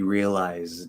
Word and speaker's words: realized: So for the first question here, so it's not a T at all. It's a D. Now we can partially devoice, right? At the end, fully enunciated would be realized, because Z is voice, so it's going to be a D. It's not going to be a T. Realized.